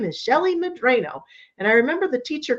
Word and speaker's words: Medrano: made us pronounce it Medrano. So all my life growing up, I was Medrano. And that alone was not helpful, because there was some thing called Drano.